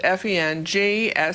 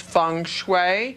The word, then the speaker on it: feng shui: We're going to be talking about feng shui, and even though it's pronounced Fengshi, it's spelled Fengshi, it's pronounced feng shui.